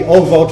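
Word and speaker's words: אבות: So let's do at least Obot. Technically it'd be Ovot is the actual Hebrew, but let's just stick with Obot.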